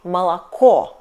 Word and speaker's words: молоко: For example, word МОЛОКО . We write it МОЛОКО. Last O is stressed and we prononciate it like [o]. It's okay. . But first and second O is unstressed, so we read them like [a] , .